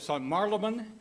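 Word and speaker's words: St Marylebone: uh visited visited the uh Rotary Club of St Maran that's how it's pronounced St Maran uh St marabon is one of the older clubs in London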